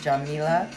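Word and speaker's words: Yamila: Spanish speaking and so her name is actually pronounced Jamea.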